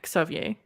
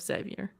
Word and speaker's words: Xavier: It's not a Z. No. We pronounce it as KS. So it'd be Xavier. So like instead of Xavier.